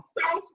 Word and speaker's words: souse: Souse rhymes with house.